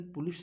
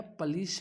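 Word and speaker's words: police: अब अपने पास में वर्ड पुलिस फिर से आया है, इसका राइट प्रोनाउंसिएशन पुलिस नहीं है, पलिश है, पलिश।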